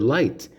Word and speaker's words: light: Hope happening that's right in some words the letter is totally silent like the word light l-i-g-h-t yeah or at